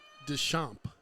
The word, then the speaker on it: Deschamps: Pronounced Deschamps. Deschamps, got it.